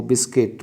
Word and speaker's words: biscuit: ध्यान ये रखें, इसमें के मत समझ लेना, बिस्किट उच्चारण में के आता है, बिस्किट तो कै समझ लें, कै को के बना दें।